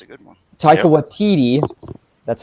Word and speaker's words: Waititi: Waititi, that's how it's pronounced, for Yep.